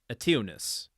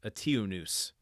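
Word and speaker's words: Eteoneus: I'm trying to pronounce that like Zeus, but it's noose. But then there's a T, there's an O before the noose, onus, and then a T before the O, so tionus, and then an E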